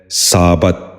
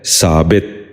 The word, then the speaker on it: ثابت: ٹپ۔ چوتھا لفظ ہے ثابت۔ یہ غلط تلفظ ہے، اس لفظ کا درست تلفظ ہے ثابت۔ دوبارہ سنیے، ثابت۔ بچوں